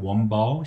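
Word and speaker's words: 温饱: 그리고 중국 경제 3단계 발전론에서 온포에서 소강, 그리고 대동으로 이어지는 내용들이 어떻게 변화하고 있는가, 중국식으로 발음하게 되면 원바오, 샤오캉, 그리고 따통세계죠.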